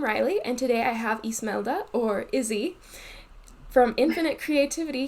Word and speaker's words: Ismelda: mentioned my name is ismelda it can be either pronounced the spanish way ismaila or the more americanized way is malda um but i also